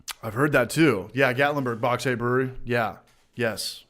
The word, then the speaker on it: Gatlinburg: tennessee that's a half an hour from me glattenberg i'm saying it wrong tennessee how do you spell it uh gatlinburg gatlinburg beer cross nations yeah i want to